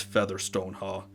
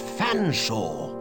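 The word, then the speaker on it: Featherstonehaugh: name it's perfectly simple F silent e a silent T silent h silent E silent r s silent T silent o n swap the n and the S silent e h a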